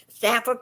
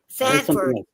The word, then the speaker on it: Sanford: Stanford, Florida. Where's that in? I never heard of that before. Yeah, it's between Florida. Yep. Sanford go is in Florida. Oh, Sanford. Okay. Sanford. I I'm pronouncing it wrong.